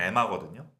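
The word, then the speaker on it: Emma: 엠마 스톤이 제일 유명한데 원래 발음상으로는 에마거든요. 그쵸. 네. 그래서 제가 말씀드리는 거예요. 이 방송에서 원래 엠마인데 에마라고 말씀드리는 겁니다.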